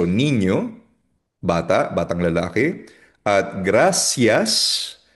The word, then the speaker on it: niño: Ang N, familiar naman tayo sa N, ay parang NY, NY, so niño, bata, batang lalaki.